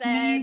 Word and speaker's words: Neve: I She guess Neve said, Candle, "I and I'm know you like, guys are fuck doing Scream no.